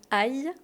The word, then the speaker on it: ail: Attention à la prononciation du mot aï.